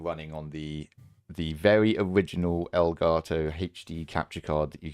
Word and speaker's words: Elgato: love to talk to El Gato about, which is the right way of pronouncing that, by the way, since it means the cat in Spanish.